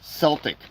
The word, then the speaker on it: Celtic: I shouldn't say Celtic, it's Celtic.